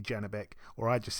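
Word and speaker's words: Janibek: kanuli again I think many people say say his name a bit different but I think we all agree that his first name is definitely janabeck or I just said janabeck so God knows but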